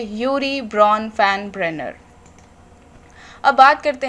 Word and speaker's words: Urie Bronfenbrenner: इनका नाम थोड़ा अलग है और प्रोनाउंस करने में थोड़ी प्रॉब्लम होती है, तो एक बार दोबारा सुन लीजिए, यूरी ब्रॉन फैन ब्रेनर।